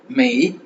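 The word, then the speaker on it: 没: பூ பூ பூ பூ பூ அப்படின்னா நோ அப்படின்னு அர்த்தம் பூ நோ நாட் இல்லை அப்படின்ற பொருள் இல்லை பூ நோ பூ நோ இல்லை மெய் எம்ஏ மெய் மெய் மெய் மெய் மெய் எம்ஏஐ மெய் மெய் அப்படினாலும் இல்லை அப்படின்னுதான் வரும்.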